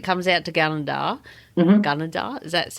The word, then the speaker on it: Gunnedah: Gunnedah, is that how you say it?